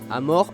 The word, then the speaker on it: amor: Dans cette langue, les O se prononcent OU. Amor a donc donné amour.